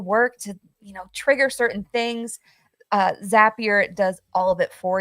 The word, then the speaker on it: Zapier: So Zapier goes to Zion. It's perfect. So if you're unfamiliar with Zapier, it is pronounced like happier.